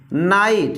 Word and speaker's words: night: पढ़ना तो है नहीं, तो लेकिन आई का प्रोनाउंसिएशन क्या आ रहा है, आई, जैसे फाइट, माइट, MIGHT माइट, नाइट, NIGHT नाइट, ठीक है, लाइट, LIGHT लाइट।